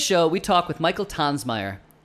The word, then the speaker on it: Tonsmeire: so on today's show we talk with Michael tans Meyer not Tom's mere as many people like myself pronounce it incorrectly who many of you might